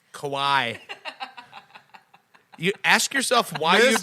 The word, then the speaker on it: Kawhi: Todd, here's the trick on how to pronounce it. Just go, why the fuck do I always pronounce this guy's name wrong?